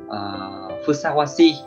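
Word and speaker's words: 相応しい: Cách đọc của nó là phusawasi, phusawasi.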